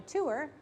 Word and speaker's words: tour: about going on a tour I say to her like a two syllable word and she says Tour like a teo our tour like I tore the paper so she Q's tour